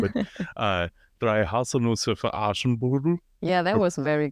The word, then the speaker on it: Aschenbrödel: but Drei Haselnüsse für Aschenbrödel? Yeah, that Or, was very good. is it Brudel or Brodel? Aschenbrödel.